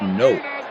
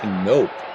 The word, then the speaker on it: Knoop: And it's actually in Dutch pronounced Knoop. So when you have 2 vowels, it's like a long vowel sound. So it's actually Knoop in Dutch.